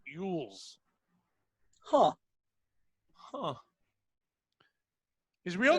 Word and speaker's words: Elwes: It's Carrie, but it's Elwes, like Yules. Huh. His real name is Ivan Simon Carey Yules.